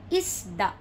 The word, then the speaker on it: isda: Isda means fish. So, the stress is in the middle. Isda. Isda. Not isda. It would be isda.